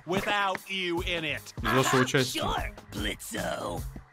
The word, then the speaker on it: Blitzo: Sure, Blitzo. The O is silent now, bitch.